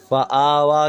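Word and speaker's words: فآوى: کھڑا زبر وا، فآوا۔ اس یا کو ملانا نہیں ہے، نہ ہجے میں ملانا ہے نہ پڑھنے میں ملانا ہے، وہ بس لکھنے میں آئے گی، پڑھنے میں نہیں آئے گی، تو فآوا۔ من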